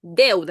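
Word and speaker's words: deuda: Пам'ятаємо, що це дифтонг у нас посерединці. Як він читається?Да. Деуда. Спочатку е, а потім в. Деуда.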